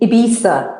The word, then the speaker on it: Ibiza: Well, I mean, Ibiza is what the locals say. Right. But Ibiza. there are many interpretations.